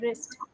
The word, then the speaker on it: wrist: कलाई को इंग्लिश में कहा जाता है wrist.